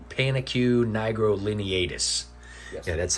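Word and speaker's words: Panaque nigrolineatus: Pronounce it. Panicue nigrolineatus. It's not necessarily hard to pronounce. It's a very long Latin name. Panicue nigrolineatus.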